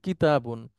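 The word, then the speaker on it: كِتَابٌ: সামনের দিকে যাচ্ছি, আপনি উচ্চারণ করেন এটা। কাতিবুন, না না, কিতা।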